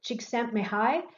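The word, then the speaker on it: Csikszentmihalyi: you see here that's difficult to pronounce this is cheek sent me high and he's the most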